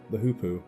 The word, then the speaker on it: hoopoe: unless you're extremely lucky, like the hoopoe or hoppo or whatever you want to call it. I call it hoopoe, but there is a bone of contention on how to pronounce it, so that might